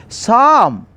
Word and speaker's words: psalm: Both letters should be silent. P silent and L silent. We should pronounce psalm.